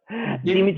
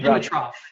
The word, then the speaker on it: Dimitrov: Dimitrov. Dimitrov.